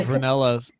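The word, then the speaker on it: Rinella: Steve Reanella rhymes with Sal Manila.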